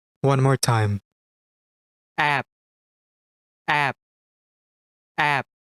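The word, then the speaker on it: 앱: This is read as app, which means app. For example, App Store. Notice this letter at the final position of the syllable? Yes, it's B. Its sound must have been B. However, it is a bachim which is found in the final position of the syllable. Then, its sound becomes P.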